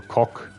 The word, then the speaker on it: coq: I'm assuming that's like pronounced coke or coq. Coq.